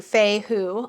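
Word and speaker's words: Fehu: which is so handy so here it's feihu so it tells you Fey who all uh phonetically spelled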